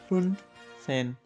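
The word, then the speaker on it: fünfzehn: फिर उसके बाद आएगा फुन सेन, 15। ये यू के ऊपर जो 2 डॉट डाले हैं इसको बोलते हैं ऊ उमलाउट।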